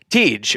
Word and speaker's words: Tiedge: Tiedge, or is it Tiedge? Well, in German it would be Tiedge. Tiedge. But I try to pronounce it Tiedge over here. It makes it easier for people.